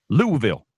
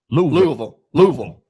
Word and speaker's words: Louisville: Louisville. Louisville. It's the Vul. Louisville. It's like almost one syllable, barely two.